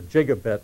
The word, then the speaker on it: gigabit: a gigabit right yes I call it a gigabit because uh I read how to say the word long before it became popular and all the old dictionaries say it's with a soft G but anyway uh you